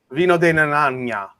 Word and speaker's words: Vino de Naranja: Vino de Naranja.